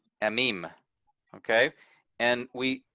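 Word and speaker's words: עמים: So this word, the word that means peoples here, is amim, amim, okay? And we stress, we stress the second syllable, meme here, because of that accent mark.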